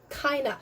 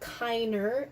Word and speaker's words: keiner: Keiner. So anytime you see an ER, it's not keiner, it's keiner. It's almost kind of an English accent that's happening there.